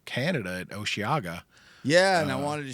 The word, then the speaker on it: Osheaga: we're talking today up in h Canada at osaga yeah and I wanted to shift to that